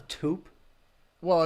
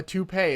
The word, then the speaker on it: toupee: take such a bet a tube well a toupee is how it's pronounced you want me to